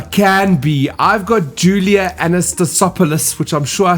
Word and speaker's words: Anastasopoulos: I've got Julia Anastasopoulos, which I'm sure I said wrong.